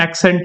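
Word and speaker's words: Accent: ये शब्द पहले भी एक्सेंट ही प्रोनाउंस किया जाता है, हमने एसेंट का नाम दे दिया इसको, उनकी गलती नहीं थी।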